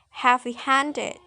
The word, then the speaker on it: heavy-handed: For example, is the word heavy-handed. So the secondary stress is the first word ha, and the primary stress is on the second word hand.